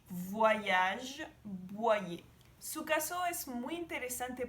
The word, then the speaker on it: Boyer: Pero en francés es Angélique Boyer. Cuando ves la combinación de O-Y más otra vocal hace el sonido Y. Boyer o también en la palabra voyage. Voyage, Boyer.